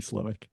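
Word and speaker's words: Slowik: it in the moment I have subsequently researched it is it is in fact Bobby slowick it's almost never names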